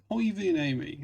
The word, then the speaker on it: Koivuniemi: Koivuniemi is how you pronounce that, but I bet that is not how John Inverdale will pronounce it.